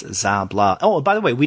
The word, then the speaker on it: Szabla: website uh she even tells you how to pronounce her name so it's zablah oh by the way we didn't even mention